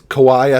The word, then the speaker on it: Kauai: I believe it's Kauai, I think is how you say that, but it's an album